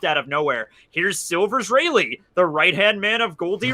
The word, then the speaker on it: Rayleigh: Rayleigh.